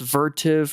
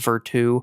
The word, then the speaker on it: Vertiv: Vertive or actually I believe they're pronounced Veru.